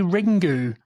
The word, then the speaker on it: Ringu: yeah yeah well no you morons it's bloody ringu cuz it's ring no that's what I pay for my parking on unbelievable ringu just sounds like a